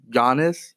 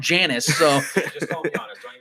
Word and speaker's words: Giannis: a toss-up between uh i might pronounce his name ron giannis there you go see the other day you were calling him janice yeah whatever that is